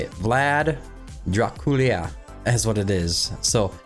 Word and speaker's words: Draculea: Vlad Draculea is what it is.